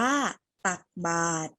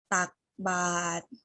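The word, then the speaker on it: ตักบาตร: ต้อง ใช่ แล้ว ค่ะ คำ นี้ อ่าน ว่า ตัก บาตร ออก เสียง พร้อม กัน นะ คะ ตัก บาตร ครู จะ ค่อย ๆ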